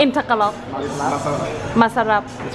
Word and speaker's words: masarap: Masarap. In Tagalog. Masarap.